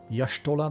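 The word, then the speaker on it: Y'shtola: waiting for me palimo yashtola they say i've been saying ishtala all the time yeah with the voice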